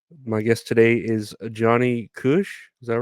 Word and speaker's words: Kush: My guest today is Johnny Kush. Is that right? Is that Yeah, that's right. pronounced? Yeah. Correct. Yes, just like the green leaf, the Kush itself.